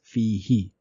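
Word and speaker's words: فيه: with sukoon on it, so we are going to write it as ha with zair underneath it, and it will be pronounced as fihi.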